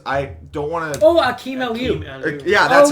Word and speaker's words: Akeem Aliu: Oh, Akeem Aliu.